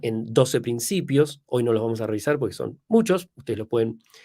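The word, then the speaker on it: Dweck: autora Carol Duck insisto se escribe d w e k Duck muy interesante si la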